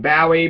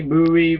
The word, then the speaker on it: Bowie: so Jim buoy and we don't even know how to say his name Bowie buoy Bowie all these bowi or Bowie I've seen like has been like all that's acceptable the TV show was